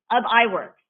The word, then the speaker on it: Ub Iwerks: How do you pronounce that name, Jim? I forgot to ask you. Ub Iwerks.